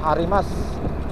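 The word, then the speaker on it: あります: satu yaitu huruf u huruf u itu kadang-kadang di akhir kalimat tidak dilafalkan teman-teman huruf u di akhir kalimat tidak dilafalkan contohnya Arimas artinya ada itu tulisannya arimasu tapi dibacanya Ari Mas lalu Ohayo gozaimasu Selamat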